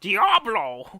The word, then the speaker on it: Diablo: on a second cuz you've been saying it wrong this is the name of this game didn't run the entire time you know it's how it's really pronounced Diablo Diablo I'm sorry thank you